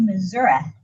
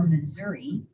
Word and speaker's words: Missouri: We'll probably spend a good part of the night traveling through Missouri or Missouri depending on where you're from and how you say it.